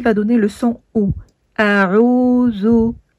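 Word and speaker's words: أعوذ: Le zel avec la damma qui donne le son zo. Et on ne le confond pas avec le del qui lui n'a pas de point ici et qui donne le son de. Par contre, celui-ci donne le son zo, z. La langue entre les dents un petit peu entrouverte.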